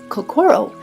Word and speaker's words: kokoro: We have lovingly Americanized the pronunciation of kakoro with the emphasis of core in the center because the heart is in the center of everything we do.